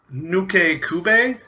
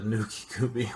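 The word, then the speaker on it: Nukekubi: The Nuke Kube, I think is how it be pronounced.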